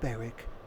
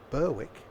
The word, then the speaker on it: Berwick: will be stopping at Beric upon Tweed not pronounced Berwick no no Beric or if we draw